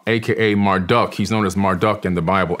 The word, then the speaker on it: Marduk: After the Great Flood, Amun-Ra, aka Marduk, he's known as Marduk in the Bible, M-A-R-D-U-K. Some people say Marduk, depending on how you want to pronounce his name.